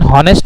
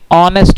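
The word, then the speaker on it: honest: इसका भी pronunciation हॉनेस्ट नहीं ऑनेस्ट होता है।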